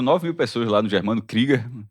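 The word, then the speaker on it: Krüger: Foram 9000 pessoas lá no germano KGER. É KGER a pronúncia correta.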